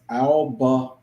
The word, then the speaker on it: Albemarle: And he said it's pronounced Albemarle.